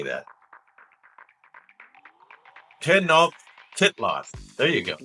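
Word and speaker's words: Tenochtitlan: captured Tenon oh how do you say that tenof titl there you go ten titl the capital of the Aztec empire correct although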